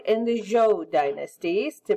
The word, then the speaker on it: Zhou: Then are the Shang and the Zhou dynasties, to pronounce them correctly.